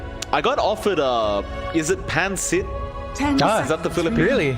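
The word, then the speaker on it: pancit: It's like pansit. You know, it's no gap between the pan and sit, but otherwise you've got it.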